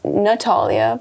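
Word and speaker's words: Knotalia: Well, my business is called Natalia, not Alia. It's spelled K-N-O-T, Alia, as in a knot, like my crochet products.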